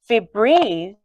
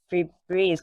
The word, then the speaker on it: Febreze: my whole life and I always thought free Breeze because you spelled like the breeze yeah yeah but no it f-e-b-r-e-z-e duprese but they say Febreze I totally believe all